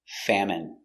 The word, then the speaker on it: famine: in their country pronunciation famine f a fa M fam it famine famine famine stress on the first syllable famine it's countable a